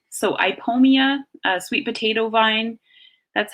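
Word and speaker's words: Ipomoea: Oh II is usually pronounced pronounced E so I pull Mia a sweet potato vine that's how you would say that I pull Mia so it's kind of a strange vowel combination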